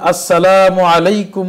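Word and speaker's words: السلام عليكم: উপরে শান্তি দিবেন তো এই সালামটা আমাদের অনেকেরই স্পষ্টভাবে যেহেতু আরবিতে এটা পরিষ্কার উচ্চারণ আমরা পারি না এবং দুঃখজনক বিষয় হলো অনেক সাহিত্য এবং অনেক নাটকের মধ্যেও এটাকে ভুল ভাবে উপস্থাপন করা হয় যাতে করে এর কারণে অনেক মানুষ ভুলটা শিখে যায় তো এজন্য আমাদেরকে সঠিকটা শিখতে হবে আসসালামু আলাইকুম ওয়া রাহমাতুল্লাহ সুন্দর করে আরবিটা উচ্চারণ করতে হবে তাহলে ওই ফজিলতটা পরিপূর্ণ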